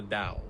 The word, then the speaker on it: Tao: A text called the Tao Te Ching, spelt Tao Te Ching, but it's pronounced the Tao, right?